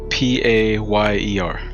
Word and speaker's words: Payer: please you got it p-a-y-e-r but it's like payer but paella okay and like